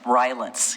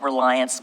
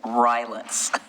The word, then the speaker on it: Rylance: So just for everybody's information, it's pronounced Rylance. It looks like Reliance, but it's Rylance.